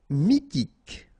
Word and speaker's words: mythique: Mythique. Remember, Q-U at the end, k, okay, and then Y is pronounced like I. Mi, H is not pronounced. T, k. Mythique.